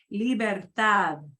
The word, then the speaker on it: libertad: And here's another one that's got a soft D because it's hanging off the back end there. Libertad.